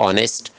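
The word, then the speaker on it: honest: अब एच, अब इसको हॉनेस्ट नहीं पढ़ते क्योंकि एच साइलेंट है, we have to read it ऑनेस्ट।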